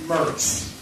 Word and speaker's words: Moritz: m-o-r-i-t-z like moritz but locally it's pronounced mers john nicholas mars had